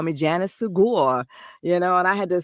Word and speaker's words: Segure: Segure rhymes with secure.